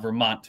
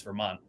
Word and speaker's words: Vermont: Vermonters don't pronounce our T's. It's not Vermont for us. It's Vermont.